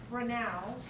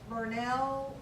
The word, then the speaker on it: Brunel: Oh, Brunel is pronounced Brunel, not Burnell or Burnu or Bernal or, and you will find that even after you graduate, people are gonna say, where'd you graduate from?